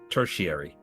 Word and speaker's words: tertiary: British English pronounces that word tertiary.